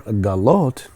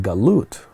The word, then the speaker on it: galut: Mar galot, if that same word can be pronounced galut, which is exile.